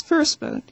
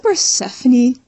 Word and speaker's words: Persephone: You write it like Persephone. So I thought you pronounced it as Persephone. And everybody looked at me weirdly. Somebody said, do you mean Persephone?